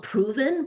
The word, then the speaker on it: PRVN: It's called Proven, but it's not spelt with an O Yeah, I'll or an start.